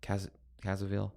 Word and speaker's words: Caviezel: Caviezel.